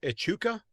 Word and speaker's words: Echuca: It's south of, I think it's pronounced Echuca. Yep. Yeah. Yep. Well done.